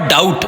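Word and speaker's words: doubt: तीसरा है the word डाउट we letter is silent. डाउट पढ़ने में भी ये नजर आ रहा है कि बी लिखा गया है पढ़ा नहीं गया है।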